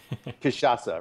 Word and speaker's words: Cachaça: yeah, I'm pronouncing it correctly, yeah? Cachaça? Cachaça, right.